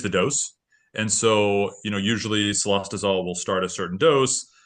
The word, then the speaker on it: cilostazol: Have you known of anybody complaining about what xylazotol? Am I pronouncing that right?